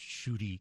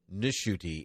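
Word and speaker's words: Ncuti: I believe it's pronounced Shuti Gatwa. It is Nishuti, and I know that because I watched an interview with him.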